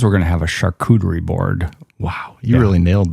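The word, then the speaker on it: charcuterie: Next time Katie comes, we're going to have a shakuderie board. Wow, you really nailed the pronunciation of that one.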